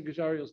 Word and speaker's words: Giugiaro: How do you say Giugiaro's name?